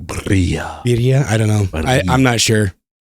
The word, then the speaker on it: birria: You have to roll it like birria.